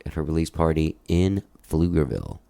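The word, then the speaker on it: Pflugerville: her release party in flugerville silent p baby silent p silent p and uh and and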